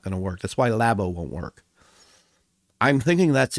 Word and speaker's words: Labo: Labo. It is pronounced Nintendo Labo. I've seen a lot of people pronounce that Labo. It's not Labo, it's Labo. Labo.